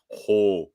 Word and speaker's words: hoser: It's got to be hoser. Hoser. You really, really pronounce the O like sorry, right?